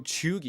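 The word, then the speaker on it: cheugy: So Chugi.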